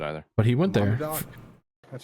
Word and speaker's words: Monadnock: This past Saturday I went to Monadnock Speedway in Winchester, New Hampshire."